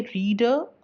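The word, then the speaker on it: reader: Writer in दोनों में शुरू या बीच में आर का उच्चारण हो रहा है लेकिन अंत का आर साइलेंट है।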